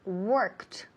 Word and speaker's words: worked: So she worked. Work en pasado, verbo regular, termina en ed. Worked. Pero el último sonido, ese ed, la d al final, se pronuncia como si fuera una t.